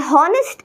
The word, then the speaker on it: honest: umbrella so an and honest in honest it's not honest it's honest honest is wrong no h only honest pronunciation is a bit